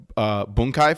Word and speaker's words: bunkai: Well, it's funny is you said the word bunkai, which is how it's pronounced.